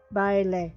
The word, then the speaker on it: Baile: It has Bally style? How do you say that? Come on, Google, help me out. Bale style? Or is it ballet? I think it's ballet. Yeah. Baile, yeah. That's what I thought.